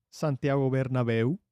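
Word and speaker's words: Santiago Bernabéu: I learned that uh the Santiago bernabeo can we get a correct pronunciation please Santiago Bernabeu there you go thank you I miss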